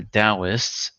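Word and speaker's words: Taoist: It was the Dowists uh old spelling dowist with a T and so D but it was still pronounced with the D who promoted these ideas.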